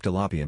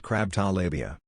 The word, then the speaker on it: tilapia: well not weird but a man ordered a crab tilapia but he pronounced it crabtalabia I died his wife